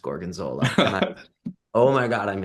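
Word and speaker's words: gorgonzola: a restaurant and I was like, "Wow, this gorgonzilla cheese sounds like a lot." And she was like, "It's pronounced gorgenola."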